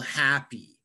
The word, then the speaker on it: happy: And for example, happy. Happy has two syllables. Happy. And we emphasize the first syllable.